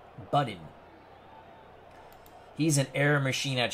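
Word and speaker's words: Buddin: As Bernard Strom has given me the proper pronunciation. Budin.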